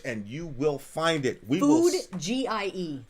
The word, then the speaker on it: Foodgie: Food G-I-E. That's Food, how it's spelled. Foodgie.